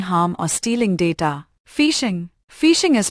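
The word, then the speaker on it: phishing: Fishing is pronounced like fishing.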